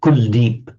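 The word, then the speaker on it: Kuldeep: I think it's um in Punjabi and Hindi is pronounced kul deep it's would be kula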